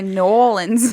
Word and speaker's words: New Orleans: new lor new orleans or you could say nolan's woman's how do people sometimes say it like new orleans or something i've heard a lot of different i don't like that one new orleans no that's true okay orleans i think is how i've already said it which